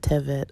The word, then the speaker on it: Tevet: And then it has the dates, the Hebrew date of, depending how you pronounce it, Tevet or Teves, 17.